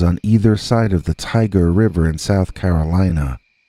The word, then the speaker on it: Tyger: My friend and I used to live in towns on either side of the Tiger River in South Carolina. That's spelled Tyger, like the tiger in William Blake's famous poem.